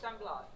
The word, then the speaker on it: Blas: San Blas.